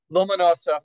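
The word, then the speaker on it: Ломоносов: Now, on September 6, 1757, the renowned Russian polymath, Mikhail Lomonosov, what is it, Anastasia, how do you pronounce it? Lomonosov, thank you, delivered a lecture to the Russian Academy of Sciences, published the St.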